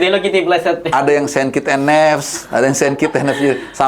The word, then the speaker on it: Saint Kitts and Nevis: Bukan Hello Kitty ya, beda. Saint Kitts and Nevis. Karena bacanya, karena waktu pertama kali kita dapat agenda melawan mereka, itu kayak berapa kali-kali sampai orang tuh bener ngomongnya. Ada yang Saint Kitty, ada yang Saint Kitty.